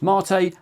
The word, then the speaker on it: MATE: and yes it's pronounced marate after the South American drink if we go down